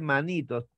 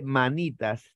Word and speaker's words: manitas: Y manitos, no se dice manitos, se dice manitas, toda vez que no son los manos, sino las manos.